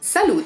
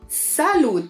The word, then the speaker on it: salute: one is Cheers of course and we say salute them salute them salut a salut - salut - salut